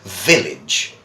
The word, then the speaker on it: village: In English we say village.